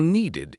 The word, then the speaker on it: needed: for needed. It is like ID.